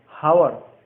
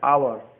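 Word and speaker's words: hour: जैसे ही वॉज एन आवर late, जैसे एच ओ यू आर को क्या पढ़ते हैं, हावर या आवर, आवर पढ़ते हैं, तो आ क्या होगा,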